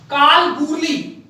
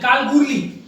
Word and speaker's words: Kalgoorlie: ये पर्थ, फ्रीमेंटल, ये के का मतलब है कालगूरली। स्पेलिंग आप देख सकते हैं, KALGOORLIE, कालगूरली।